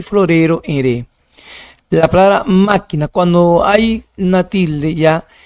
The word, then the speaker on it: máquina: Entonces máquina en ma, máquina, ahí está, sílaba tónica.